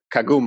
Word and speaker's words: Kagumu: an intro of of yourself and what is Kagome Oh am i pronouncing that correctly yeah exactly great pronunciation yeah